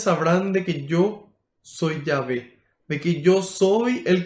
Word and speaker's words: Yahvé: soy y así Eso se dice yahvé en hebreo yh W H ese eso se conoce como el tetragrama Esas son las cuatro letras y al agregarle vocales Entonces se pronuncia yv porque el hebreo no posee vocales son todas consonantes yh W h en español y ve entonces la gente va